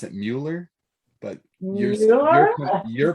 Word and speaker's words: Mueller: to welcome miller i use the german pronunciation miller i think in english it's muller how do you pronounce it yeah we pronounce it mueller but you're pronouncing it correctly and uh